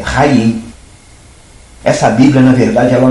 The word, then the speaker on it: Chaim: O brasileiro vai olhar o Chaim com CH, vai apenas pensar em Chaim, e não sabe o que que é isso. Não vai saber quando a pronúncia é Raim.